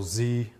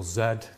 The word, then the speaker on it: Z: madison and this is angle z or angle zed depends where you live depends how you say it's 26 letters of